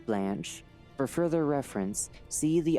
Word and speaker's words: Blanche: description entity 140 or blanch footnote pronounced like the French word blanch for further reference see